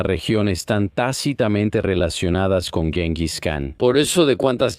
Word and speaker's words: Genghis: He escuchado Jingus y Chingis. Yo solo voy a decir Genghis porque soy estadounidense, ¿de acuerdo? Y así es como lo llamamos.